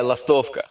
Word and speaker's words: Lastovka: Gorilla Biscuit said Lostovka. Yeah, Lastovka. Okay.